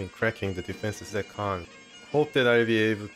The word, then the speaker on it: Caen: So we have 343 as far as the pronunciation Caen is concerned. Everybody pronounces it as Caen. I guess it was called Caen before it changed to like official pronunciation of how the French themselves pronounce it.